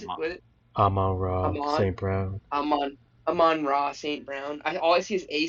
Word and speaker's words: Amon-Ra St. Brown: Amon-Ra St. Brown. All I see is A St. Brown, and I'm like, how do I say his name? What is it? I'm like, Amari.